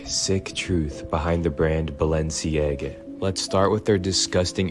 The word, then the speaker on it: Balenciaga: Clip के अंदर ये बताया है कि इसको प्रोनाउंस कैसे करना है। लोग इसको बैलसियांगा कहते हैं, कोई बालशियांगा करके बोलते हैं, लेकिन उसने इसकी सही जो